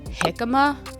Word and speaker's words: jicama: It's pronounced hikima, but sadly you'll keep seeing me pronounce it ha.